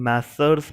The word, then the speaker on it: Messrs: Student, मैसर्स मैं आपको बताता हूँ. मैसर्स इज a short form, masher is short form of मैसर्स. इसकी फुल स्पेलिंग होती है MESSRS, MESSRS. That is plural of mister.